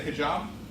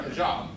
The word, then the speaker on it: hijab: asked to wear a hijab. Does anybody know, am I pronouncing that correctly? Is the J soft or hard? Is it hijab or hijab? It depends on where the Arabic comes from, so you're fine.